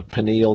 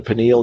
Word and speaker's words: pineal: It exists in the pineal gland. I believe it's pronounced pineal, P-I-N-E-A-L.